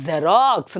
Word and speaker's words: Xerox: ಸೊ ಹಾಗಾಗಿ you have to pronounce it ಆಸ್ ಜೆರಾಕ್ಸ್, ನಾಟ್ Xerox. It is Xerox.